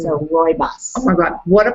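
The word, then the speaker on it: rooibos: category just like herbales so how do you spell that the rois it's r o o i b o s so Roos oh my God what a party in my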